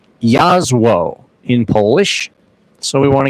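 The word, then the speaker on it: Jasło: J A S L O, it is actually pronounced Yazo in Polish.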